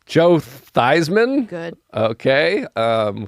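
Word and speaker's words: Theismann: nope all right Joe thyman good okay um whose real name was thian and they changed his name to rhyme with Heisman which it's close enough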